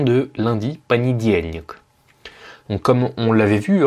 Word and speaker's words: понедельник: Alors, petite particularité de prononciation, vous voyez que c'est écrit понедельник, en le disant lentement. Mais pourtant, moi je dis понедельник. Alors pourquoi? Bon, d'abord, il faut savoir que l'accentuation, l'accent tonique, il est sur le diel.